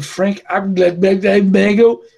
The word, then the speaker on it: Frank Abagnale: A figura do Frank Abagnale, perceba a minha pronúncia, como é uma pronúncia sofisticada, Michele.